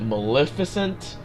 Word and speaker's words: Maleficent: different ah properties properties Maleficent there is an e cause like I always hear people pronounce it Maleficent that's an E it's mal e so that's my reasoning